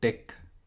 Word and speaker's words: TeX: तो इसको जो है टेक प्रोनाउंस किया जाता है, तो इसको मिक टेक कहते हैं हम लोग जनरली।